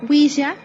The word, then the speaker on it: ouija: introducción podemos decir que la ouija según la grafía recomendada por la rae ouija del francés uy qué significa así y del alemán ya que significa también si pronunciado güiza es un tablet de